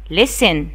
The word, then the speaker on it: listen: After that, in this picture, the boy listen, يستمع, listen. Listen, L-I-S-T-E-N, listen يعني يستمع. واخدين بالكم يا أولاد, أنا قلت listen, وإحنا استهجنا إيه, L-I-S والT فين, silent, صوتها silent, مش بينطقوا, بقول listen.